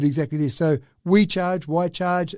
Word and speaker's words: Wi-Charge: So We Charge, Why Charge, it's spelled WI-charge.